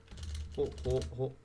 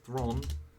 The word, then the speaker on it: Hawthorne: Hawthorne, if I spell it. Hawthorne, not Thron. Thorne, there we go, Hawthorne.